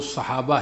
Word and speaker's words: صحابہ: صحبہ، صحبان، صحابہ، صحابہ، افسخ جو تلفظ ہے وہ صحابہ ہے، صاد پر زبر فتح، صحابہ بھی پڑھ سکتے ہیں۔ تو صحابی صحبت سے